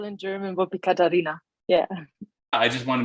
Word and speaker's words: Katharina: the most i mean americans always say catharina or catharina that like the right spell in german would be katarina yeah i just want